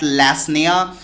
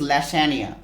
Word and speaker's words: lasagna: So basically student, this word is, let me tell you this, the pronunciation of this word is lasagna. Lasagna, that's what the correct pronunciation.